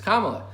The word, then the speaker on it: Kamala: or kamala i'm sorry it's racist and not pronounced named kamala kama it's kamala but uh in general